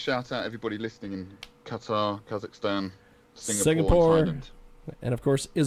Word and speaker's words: Qatar: category of Performing Arts in the country of quater I think it's how you pronounce it q-a-d-e-r uh we are also uh Qatar there it is uh we are also number